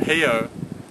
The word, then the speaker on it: Rio: it they call it hio because the rules of Portuguese orthography mean that an R is pronounced um like an H sound so it's actually H